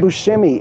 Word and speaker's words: Buscemi: Buscemi if Steve Buscemi is in there that would be everybody whose last name ends with an I pronounced as an E I can think of